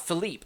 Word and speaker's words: Philippe: Once there, Philip greets them. And Philippe, I should say, I'm sorry, I keep pronouncing his name wrong.